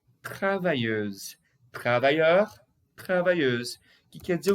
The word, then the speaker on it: travailleuse: Olha a pronúncia. Travailleur. Travailleur. Isso é masculino. E o feminino? Travailleuse. Travailleuse.